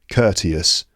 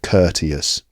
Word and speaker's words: courteous: word starts with the word cour although it's pronounced Kurt courteous but it looks like court so you could think Court as in a formal setting where people behave with respect courtious but actually pronounced courteous little pneumonics like that can sometimes really help